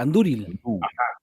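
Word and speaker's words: andúril: anduril o anduril Ah ahí la u es larga la u es larga anduril Entonces cumple la primera de nuestras reglas vocal larga ahí enfatizamos anduril anduril Perfecto perfecto muy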